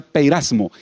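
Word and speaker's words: πειρασμός: sabrán cómo resistir ahora la palabra tentación es un término que en griego se pronuncia peyras mo y significa prueba significa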